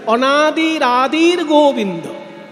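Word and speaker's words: অনাদিরাদির্গোবিন্দঃ: তাই উচ্চারণ করতে হবে অনাদির আদির গোবিন্দ।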